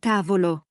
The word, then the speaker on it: tavolo: syllabe (comme casa), mais certains sont différents, comme tavolo. Le mot correct est tà-vo-lo. Disons que la majorité se place sur l'avant-dernière, mais il y a des exceptions ! Ah, je vois. tà-vo-lo.